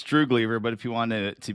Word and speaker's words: Droogleever: to mispronounce your last name how do you pronounce it's true believer but if you wanted to be really fancy